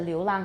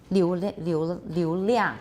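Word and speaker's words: 流量: 那个空气的流浪很大. 流量 not 流浪流量 that's hard.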